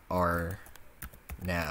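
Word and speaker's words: RNAV: that so our nav by default in viejas is pronounced area navigation but we don't want to say area navigation we want it to say R now if we wanted to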